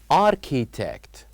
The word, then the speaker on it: architect: to build roads and in this word architect here we don't uh pronounce h here we have one silent letter which is letter H so here we write architect but we don't pronounce the letter H architect so these are